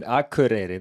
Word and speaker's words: Akureyri: Good to have you here good to have you in Akureyri.